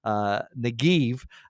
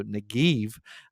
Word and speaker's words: Negev: Now, what's interesting about this word, Negev, is the Hebrew would be v. The B can be pronounced as a V in Hebrew. So Negev, whenever I read that,